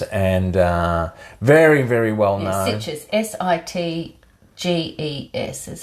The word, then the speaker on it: Sitges: Yeah, Sitges.